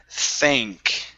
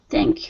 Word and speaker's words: thank: go to the word thank yeah so instead of than it's an a sound they think thank you there you go